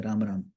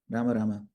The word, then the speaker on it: Rama: much time by doing rama. So just say har rama a quick one but make sure you say the m as a syllable distinct syllable. Ram becomes one syllable and you've skipped one syllable.